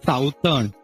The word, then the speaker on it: southern: Don't stress a lot on some syllables. Okay. Southern. It's a southern.